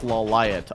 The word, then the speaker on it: Lawliet: Oh, but I heard it's actually pronounced LawLiet on the show, so I just never watched the show.